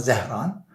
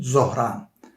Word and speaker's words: Zohran: Şimdi dediğim gibi önümüzdeki 1020 bilemem öldürülmezse Amerikan siyaset tartışmalarında hep bu eee Zohran yani aslında Zehran fakat eee Hindistan kökenli olduğu için Zohran diye telaffuz ediliyor.